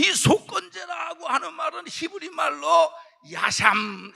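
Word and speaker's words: אשם: 이 속건제라고 하는 말은 히브리 말로 야샴, 이 발음이 좀 야샴이에요.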